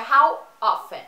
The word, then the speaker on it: often: Cuidado que não é how often. Esse T aí no meio não faz a pronúncia, tá? Ele é mudo. Então é how often, ok?